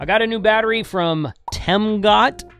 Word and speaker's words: Temgot: I got a new battery from temot t m go t that's the way it's pronounced it's got a really really cool screen